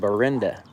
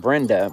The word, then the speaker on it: Benda: another Middle School called Benda it's not Brenda but it's spelled Benda I guess um but yeah